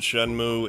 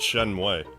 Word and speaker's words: Shenmue: oh is it Notch didn't they pronounce it shenmue in shenmue 3 though because I used to call it Shen way until I heard in the game oh my God